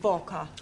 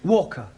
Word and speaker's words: Walker: Walker. Walker. What? W is pronounced W. Your employer's name is Walker.